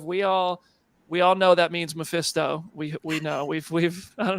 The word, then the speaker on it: Mephisto: Mephisto, is that how you say it?